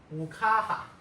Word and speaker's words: ukaha: So, okay, third word is going to be ukaha. Ukaha. Ukaha. Three little lines. Ka. Not ga because it has no dots, no circles, so it's not ha. So it has to be ka.